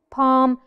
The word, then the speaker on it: palm: silent another example palm palm tree we do not pronounce the letter L Palmer three vowels now